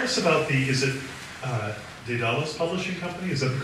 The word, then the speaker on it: Daedalus: Tell us about the, is it Daedalus Publishing Company? Is that the correct pronunciation? Daedalus. Daedalus? Please tell us about it. Daedalus.